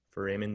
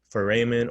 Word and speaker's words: foramen: Magnum means great, foramen means hole, okay? Another good rule of thumb, anytime you see the word foramen, it's always gonna mean hole, okay? Foramen or foramen, sometimes you hear it pronounced, okay?